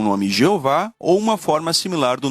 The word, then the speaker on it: Jeová: essa a vogal o Isso significa que o nome deve ser pronunciado na verdade Jeová em seu livro fascinante